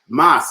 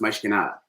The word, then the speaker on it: Mas que nada: No, because Portuguese, mas, M-A-S is Spanish, mas. Portuguese, mais is how you say mais, is how it's pronounced, mais que nada.